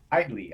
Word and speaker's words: Hidlay: like wrestling podcasts and how many different ways people pronounce Hidley. Hidlay, Hidley. Like there's for such a short name, there's a lot of different ways to say it, right? So, it is Hidley.